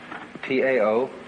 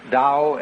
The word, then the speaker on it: Tao: T-A-O, pronounced Dao in the Mandarin dialect, Tao in the Shanghai dialect, To in the Cantonese dialect.